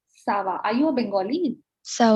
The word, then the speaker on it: ça va: Shava नहीं, Sava.